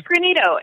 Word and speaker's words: Greenito: kind of what you said is that it's granito and it is not a a word that